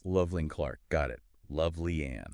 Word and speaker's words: Lovely Ann: And it's pronounced Lovely Ann, just so everyone knows. Loveling Clark, got it.